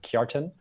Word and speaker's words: Kjartan: Someone didn't understand how to pronounce my name, which you pronounce it Kjartan, and there was a lot of noise in the area.